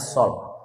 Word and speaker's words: Saul: Bacanya Sol.